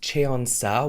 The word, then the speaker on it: 천사: I think it's pronounced Cheonsa, which means angel in Korean.